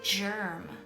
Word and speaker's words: germ: This word is germ, and the G makes the soft G sound J, so I'm going to move this up into the soft G column.